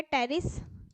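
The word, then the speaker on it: Pteris: बेटा इसका एग्जांपल है टेरिस यहां पे पी साइलेंट है ठीक है प्रोनंसिएशन का ध्यान रखेंगे और ड्राप टेरिस ड्राप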